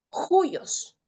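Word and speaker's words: υἱός: Ejemplo, ahí hay una palabra que es juyos. Y si es espíritu rudo se pronuncia como J.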